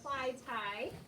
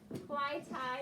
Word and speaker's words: Clytie: clyde yeah i would i would pronounce this fly tie because i would say the y would say the i sound fly thai and can anyone pronounce